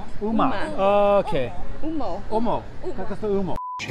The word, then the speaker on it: Humo: You don't pronounce the H. It's silent. Uma. Okay. Umo.